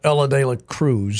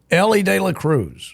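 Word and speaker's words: Elly De La Cruz: Ellie Ellie DEA Cruz you said Ella you and your buddy Chris Le cannot say his name properly and every time I correct both of you you both act like I'm insane Ellie De La Cruz yeah he's a tall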